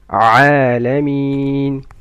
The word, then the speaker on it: العالمين: عين comes from mid of the throat. عالمين.